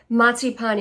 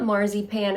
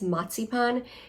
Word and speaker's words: Marzipan: I grew up with so much matsipan and it's not marzy pan. I think a lot of Americans say that it's matsipan. A z is pronounced as a tz.